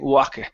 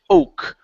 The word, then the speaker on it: oak: Okay, so here you were saying wake or something like that. I can't pronounce it very well. So it's the word here is oak.